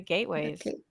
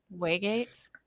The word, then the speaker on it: waygates: they were leaving the gateways waygates i always always say it wrong i always say